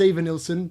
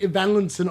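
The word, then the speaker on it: Evanilson: like, I know it's Evan Nilson, but I've been saying Ivan Linson all season long, so I'm not going to start saying it the other way around.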